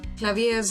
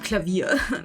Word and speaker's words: Klavier: I mean, to be frank, the reason I say Clavier's name the way I do is because, one, I don't know if there is an official pronunciation, and two, there's no way I'm gonna pronounce his actual name the same way that the German word for piano is. Like, I'm not gonna call him Klavier. That sounds stupid.